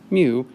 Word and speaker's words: mu: It is pronounced mu, and in this context it is called the coefficient of friction.